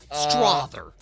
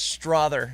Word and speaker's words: Strother: You don't even know how to spell it. STRAWTHU. No. STRAWTHER. There you go. There you go. Strother. Yes, Strother is what we're looking for.